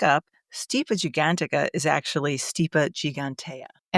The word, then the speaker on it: Stipa gigantea: Stipa gigantica is actually stipa gigantea and it's actually stipa just so we